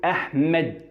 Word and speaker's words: أحمد: قطع يعني لازم أقرأها، لازم تظهر في الكلام معايا، وانا بنطق الاسم لازم اقول احمد.